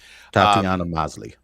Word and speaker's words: Tatiana Maslany: I cannot pronounce her name. Tatiana Maslany.